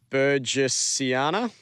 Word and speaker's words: burgessiana: and that's eukalyptus Burana I think you pronounce it bures Siana and that's called the